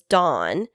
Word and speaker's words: Don: But over time, especially in the West, they have merged because they don't have a very high, what we would call in linguistics, functional load, which means they don't really tell apart many words.